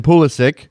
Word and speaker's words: Pulisic: everybody can exhale on the possibility of Christian pulisic who pronounces his name that way because he's American